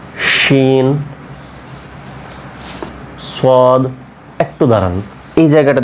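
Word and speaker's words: شين: এর পরবর্তীতে হ্যাঁ তারপরে দেখেন র ঝা সিন শিন সদ একটু দাঁড়ান এই জায়গাটা দেখেন তো সিন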